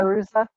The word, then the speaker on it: Fairuza: Um Balk or uh how do you pronounce her name? Fairuza? Fairuza, yeah.